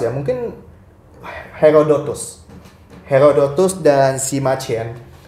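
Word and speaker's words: Sima Qian: Herodotus dan Simachen. Semachen ya itu pronunciation Chinese-nya.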